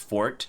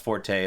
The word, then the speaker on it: forte: It is pronounced fort when it's used like this in a sword context. And apparently that's like the strongest part of the blade. Fun fact. It's not pronounced forte unless you're talking about like something you're good at.